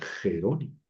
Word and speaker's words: Jerónimo: Jerónimo a veces lo escriben con J y a veces con G, pero se pronuncia igual Jerónimo.